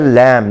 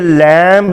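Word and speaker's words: lamb: फिर है लैम, लैम भेड़ का बच्चा, मेमना जिसको हम कहते हैं, ये लैम्ब नहीं होता, हमारे यहाँ इसको आमतौर पर लैम्ब कहा जाता है, ये लैम्ब नहीं होता बल्कि लैम होता है।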